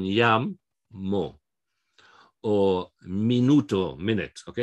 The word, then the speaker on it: llamo: Like llamo, okay? The stress is on llamo.